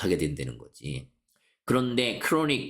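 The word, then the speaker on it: chronic: 그런데 크로닉 크로닉 발음 이거 취론 이끌러면 안 돼. 크로닉이야.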